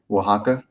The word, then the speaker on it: Oaxaca: oaxaca to the left how do you pronounce it oaxaca yeah oaxaca oh you're good there's no there's no h there yeah okay oaxaca uh